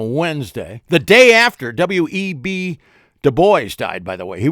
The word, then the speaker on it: Du Bois: I pronounce it Du Bois because it's a French name, and I like to sound like some effete Frenchman. Du Bois.